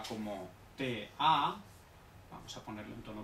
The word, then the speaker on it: da: Entonces, por ejemplo, D-A no se pronuncia da, no. Se pronuncia con una T, o sea, ta, ta, ta, ta.